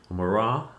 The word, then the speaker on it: Murat: Murat, I believe is the correct way to pronounce that.